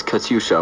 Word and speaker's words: Katyusha: Surprised with that, but for the pronunciation, it's Katyusha, which is an old.